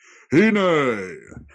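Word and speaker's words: הִנֵּה: Hine. I like it. I think that's how it should be pronounced, because this is the word. Behold.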